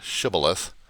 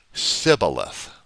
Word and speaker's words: shibboleth: Gileadites would pronounce the word shibboleth, but Ephraimites said sibboleth without the H in there.